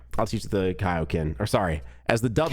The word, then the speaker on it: Kaioken: know that it is actually supposed to be pronounced Kaioken so here we are oh oh oh there